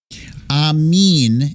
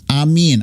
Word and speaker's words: Amin: Amin is how you pronounce it. Amin. I got it. Amin Takeda.